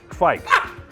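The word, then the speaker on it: kveik: the beer yeast world by storm, and it's pronounced kveist? Kvike.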